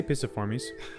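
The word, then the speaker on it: Piciformes: The order is Picaformes. I say Pisiformes. A soft C.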